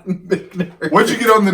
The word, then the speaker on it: Michter's: It's that proper pronunciation. Michter's.